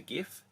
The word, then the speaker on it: GIF: of memes is the GIF. Now, I'm adamant that it's a hard G when you talk about the GIF, not GIF, as some people like to call it.